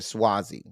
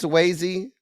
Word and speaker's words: Suozzi: Representative Tom Suozzi or Swazi. The Informed, you done been here, The Informed. You know me. You know I'm about to dog them and drag them. It's Swayze. It ain't spelled like Swayze.